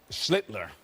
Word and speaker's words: Schlittler: Schlittler. Oh, well, he's the master. Schlittler. Schlittler. You now your turn. Sound like Hitler.